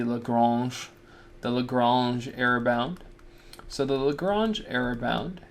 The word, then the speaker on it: Lagrange: Just like with Maclaurin, I try to put an accent on there, this would be Lagrange.